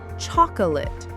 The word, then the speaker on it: chocolate: Many three syllable words have stress on the first syllable.